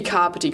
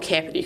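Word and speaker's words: Kāpiti: Let's be Kapiti College, not Kapiti College.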